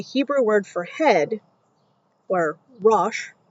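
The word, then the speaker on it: rosh: Also in the LXX, when the Hebrew word for head or rash, R O S H, meant rule or authority,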